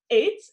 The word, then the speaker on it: eet: Like it's 8 is almost good as 8, but the second word is smakelijk.